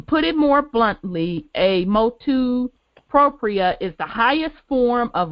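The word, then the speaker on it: motu proprio: The importance of the, how do you pronounce that, Brother Wendell, the motu propria.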